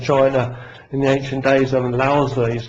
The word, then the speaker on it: Lao Tzu: in the ancient days, Lao Tzu he's called. Sometimes it's pronounced as Lao Tzu, but I believe that's the wrong pronunciation.